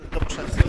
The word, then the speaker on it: Doboszewski: Can you pronounce it once for us? Doboszewski.